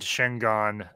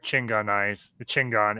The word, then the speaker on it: Chingon: But yeah, Robert Rodriguez, they actually, his band Shingon, or Chingon as he pronounced it, performed at the premiere for the after party premiere of Volume 2.